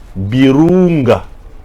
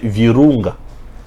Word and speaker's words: Virunga: national au Congo appelé parc national de Birunga prononcer Virunga parle personnes qui ne connaissent pas notre langue de l'autre côté de la frontière je ne suis pas